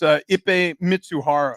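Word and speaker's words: Ippei Mizuhara: It's Ippei Mitsuhara.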